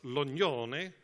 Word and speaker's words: Lognoné: And to my left-hand side, the first person is Ida Luca, and she told me to pronounce her name as Lognoné, although she is Polish-French.